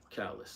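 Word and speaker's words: Callas: And this movie Maria, about Maria Chalice or Callis, I can't remember, can't pronounce the name right. Callis, there we go.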